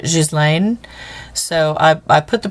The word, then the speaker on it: Ghislaine: Okay, so, but I found, just like Ghislaine Maxwell, and the American pronunciation of that she pronounces it, or the way that they pronounce it is Ghislaine, but in French they pronounce it Ghislaine.